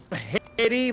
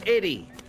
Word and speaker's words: Eddie: not Heddy. My name is Eddie. With a H. Not Heddy. No. Normally the French call me Heddy. My name is Eddie. Oh, well, the H is silent.